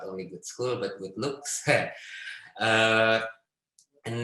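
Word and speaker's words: Gudskul: uh what we call good school it's pronounced like good school it doesn't mean anything with school but it's just like it's uh it it pronounced like the english word but like written in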